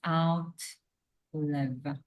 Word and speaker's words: outlive: right I think it's out live because the verb is live so then we just add prefix and we don't change pronunciation of live the verb is live